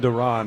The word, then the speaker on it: Duran: What does what does Joan Duran have to do to get you to say his name right? Durand Duran.